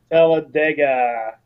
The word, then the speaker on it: Talladega: tallada t i can never say it right Taladega yes thank you Tim Talladega Tega this is the final race for the